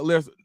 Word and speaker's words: Lesnar: Wright said, dude, I can't let you pronounce Brock's name like that. It's Brock Lesnar.